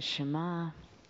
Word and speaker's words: Shema: we've arrived at the Shema which can be dissected or broken down into three sounds there's the shin mmm mmm and the iron which is silent but it's a guttural so to me this